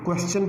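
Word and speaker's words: question: अब आपने माइंड में रखने ये बात, ये वर्ड पहला जो था वो क्वेश्चन पढ़ा जाता है, दूसरा जो वर्ड था उसको हम पढ़ेंगे सजेस्टन, और तीसरा जो वर्ड है उसको डाइजेस्टन पढ़ेंगे। तो ये इसकी सही प्रोनाउंसिएशन है और उम्मीद है कि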